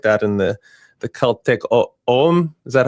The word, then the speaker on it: Ogham: and the the Celtic Om.